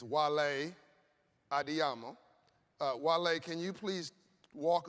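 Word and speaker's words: Wale Adeyemo: And I want to say his name is not Wale, it's Wale Adiyamo.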